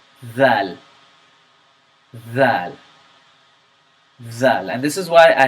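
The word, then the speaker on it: ذ: say it like this you say Val that zal and this is why I have a separate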